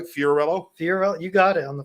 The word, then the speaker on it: Fiorello: Fiorello, you got it on the first try.